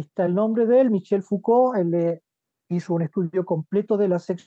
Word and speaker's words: Foucault: Veamos un poco a este autor llamado Michel Foucault, ¿no? Se escribe así Foucault, pero es Michel Foucault.